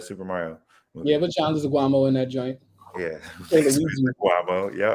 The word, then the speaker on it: Leguizamo: Like that 90s John Leguizamo. Was that John Leguizamo? Who was in the 90s Super Mario movie? Yeah, but John Leguizamo in that joint.